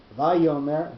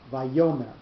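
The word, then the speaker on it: ויאמר: So it's not Vayomer, it's not Vayomer, it's Vayomer. So the yo, that syllable is the one that's going to have the accent under it, and that's the placement of the note.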